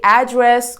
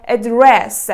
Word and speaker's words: address: completely change its meaning like when you say address or address because address means directions